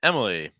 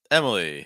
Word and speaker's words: Emily: Sophia ofia Sophia and Emily Emily heavy stress on that first syo so MIA Sophia and